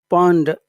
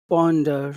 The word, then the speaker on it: ponder: p p p p you have to push the air out not eat it Ponder Ponder P that